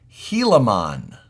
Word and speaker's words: Gilamon: name into your heads it's pronounced helon everybody's going to get